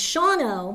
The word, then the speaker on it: Shawano: Well, Sheboygan, you actually pronounce everything. It's Shawano, Which but is it's SHAWANO.